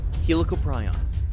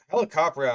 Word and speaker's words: Helicoprion: Number two, Helopryon. The Helicopion is without a Yeah, well that's a that's a butcher pronunciation if I've ever heard it. Um, helicoprion has been getting a lot of press today.